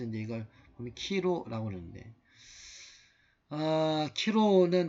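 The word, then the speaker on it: Chi-Rho: 이걸 보면 키로라고 그러는데, 키로는 그리스어로 이제 크리스토스의 처음 두 글자 키 내지는 카이라고 이걸 읽고, 그 다음에 이걸 우리말로 영어로 P, 이건 X라고 생각하지만 이제 키로입니다.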